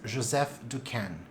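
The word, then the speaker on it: Joseph Decaisne: was described in 1844 by a french botanist joseph ducan got it right this time let's pretend we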